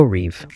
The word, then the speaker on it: Reve: Reeve, pronounced Reev, is a next generation AI image generator built on half moon AI architecture.